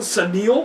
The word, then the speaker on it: Sunil: Is that how you say the other one? Sunil? Uh-huh. Sunil. That's what they say, yes. It's spelled Sun-I-L.